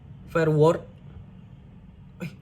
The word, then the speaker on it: Verwoerd: Ketika Hendrik Verwoerd, ini bacanya apa, Len?